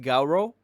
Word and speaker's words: Garou: piece my bad um I think it's pronounced Garo GA Rao he will be explaining all